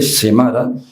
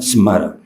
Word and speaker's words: Smara: Esto es la ciudad de Smara, aunque se escribe Semara, se pronuncia Smara.